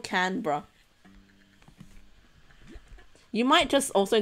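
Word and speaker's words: Canberra: it said yeah exactly it's not canura it's not canbera it's canra I was saying Cana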